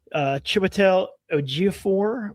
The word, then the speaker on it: Chiwetel Ejiofor: Mike Flanagan, The Exorcist, has finished filming, starring Scarlett Johansson, Lawrence Fishburne, Chiwetel Ejiofor, I think that's how you say his name, Hamish Linklater, Jacoby Drupe, Kate Siegel, Diane Lane, and Carla Gugino.